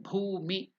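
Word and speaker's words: भूमि: Then bhumi. Bhu is again Mahaprana. So it's not bhu. Bhumi.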